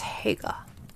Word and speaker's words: Haigha: His name is Haigha. He pronounced it so as to rhyme with mayor.